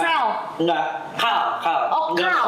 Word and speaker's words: CAL: Berarti bukan call bacanya. Bukan. Sel.